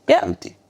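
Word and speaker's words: Berluti: Do you know how to pronounce beruti by the way in French? Buti.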